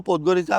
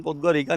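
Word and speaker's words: Podgorica: और जो अंकल थे हमारे साथ वो पोदगो रिसा बोल तो रहे थे कि जाएगी उन्होंने बल्कि बोला था कि प्रोनाउंसिएशन पोतग्गोरिका नहीं है पोदगो पोद्गो रिसा रिसा ऐसे ही बोल रहे थे लेकिन पोतगोरिका भी बहुत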